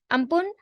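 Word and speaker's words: Amphan: from Thailand the world ampen is pronounced as which means Sky ampun origin originated from a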